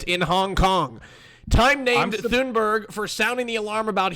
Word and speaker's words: Thunberg: How do you pronounce her name? Greta Thunberg. Thunberg is the person of the year.